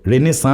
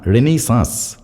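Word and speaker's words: Renaissance: একা রেনেইসা এই কি উচ্চারণটা ঠিক করে করো রেনেসা না রেনেইসা রেনেইসা যুগে বিদ্যাসাগর একা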